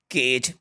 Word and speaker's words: cage: केज, अब केज को देखिए CAGE केज, तो यहाँ पे आपको जी पे फोकस करना है, अदर स्पेलिंग पे फोकस नहीं करना है।